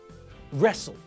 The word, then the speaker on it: wrestle: And in the same way, we don't pronounce the silent W in these words either. Rap, write, wrestle, wrist.